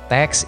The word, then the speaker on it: TeX: tahun 1982 ya nah teks ini dibaca dengan tek Ya jadi ee cara bacanya itu tidak teks atau dengan huruf x tapi dengan CH ya tag nah sementara lah tag